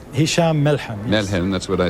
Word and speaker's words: Melhem: Let me go to Hisham Melhem, who's in Washington, the reporter for As-Safir, which is the daily newspaper. First of all, am I pronouncing your name both correctly? Hisham Melhem.